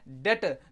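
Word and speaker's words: debt: हैं तो प्यारे बच्चों इसको हम डेप्ट नहीं पढ़ेंगे इसको हम क्या पढ़ेंगे डेट तो प्यारे बच्चों यहां पे जो बी होता है यह साइलेंट हो जाता है और मेरे प्यारे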